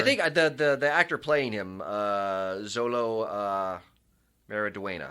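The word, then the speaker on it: Xolo Maridueña: And I think the actor playing him, Zolo Mariduena, I think is how it's pronounced.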